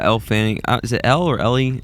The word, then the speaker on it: Elle Fanning: Specifically, is it Ellie Fanning? Yeah, Elle Fanning.